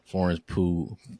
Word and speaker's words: Pugh: actors and everything, it's kind of like Florence Pugh. I don't know how to say her last name. Florence. Pretty sure yeah. Pugh.